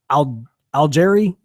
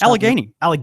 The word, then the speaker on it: Allegheny: I had plans to actually go out to, and I want to say this right, although I could be mispronouncing it, the Al-Gharairi. Where are you reading this? This is on our news. Allegheny. Thank you.